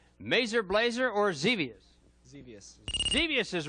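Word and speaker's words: Xevious: or galaxin uh Galax okay galaxian right I mispronounced it that's correct though number two merer Blazer or zus zus zevious is right good for you number three is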